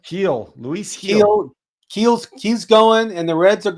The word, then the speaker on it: Gil: your your one of your aces are pitching Gil or how do you say his name heel Luis heel ke's ke's going and the reds